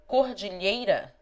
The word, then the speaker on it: cordilheira: The syllables of cordilheira are cor di lhei ra.